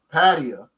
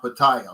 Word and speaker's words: Pattaya: when I was in patio which is they said that's how to pronounce it not Pattaya like I was saying the guy showed me